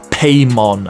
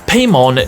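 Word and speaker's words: Paimon: are worshiping a demon called paymon I think is pronounced now paymon needs a human male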